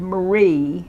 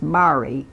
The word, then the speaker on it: Marie: so did this woman from New Zealand named Marie but it was but it's pronounced Mari Mari play CLA Y and she's known to